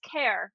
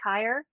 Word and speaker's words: Caer: my name yeah uh it's pronounced care so it's it's simpler than it looks uh it's an old irish name that's supposed to pronounce kair but no one in my family has an irish accent so it became care uh is usually